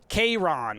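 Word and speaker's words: Chiron: Kayron or something like that. It's close to the Latin pronunciation.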